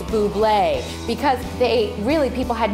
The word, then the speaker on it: Bublé: his album, and they just kept saying, it's Bublé, because they really, people had no idea how to pronounce his name, they didn't know who he